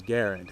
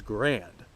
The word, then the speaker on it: Garand: The guy's name was Garand, however the military designation of the rifle was Grand. That was the military pronunciation of it, so it could go either way, right?